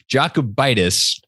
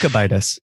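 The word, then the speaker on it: Jokubaitis: Jacobitis. One day I will learn how to pronounce his name. I think it's Jokibitis. Jokibitis? I think the J might be silent. Jokibitis. Like yogging. Yeah.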